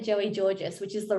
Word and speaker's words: Gorgis: will tie into marketing um lloyd said joey georges which is the right way to pronounce it but always i always pronounced it as gorgeous and so i called him gorgeous joey you're